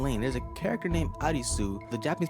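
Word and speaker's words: アリス: Similarly in Lane, there's a character named Arisu, the Japanese pronunciation of Alice.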